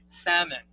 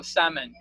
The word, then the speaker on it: salmon: we pronounce this as salmon right okay we should like read l silently i mean we should we should not read l or we should not pronounce l it's a silent l so salmon what what i have